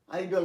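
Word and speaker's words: idol: তারপর এটা স্পেশাল উচ্চারণ বলে আমি স্টার দিয়েছি, বলে আইডল হবে।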